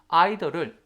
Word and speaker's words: either: either를 either이라고 발음하셔도 괜찮아. either A or B 하셔도 괜찮습니다.